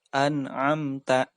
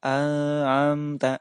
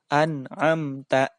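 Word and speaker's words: أَنْعَمْتَ: Maka wajib dibaca jelas. An'amta. Tidak boleh dibaca an'amta. Tidak boleh. Begitu juga tidak boleh dibaca an'amta. Tidak boleh. Tetapi harus dibaca an'amta.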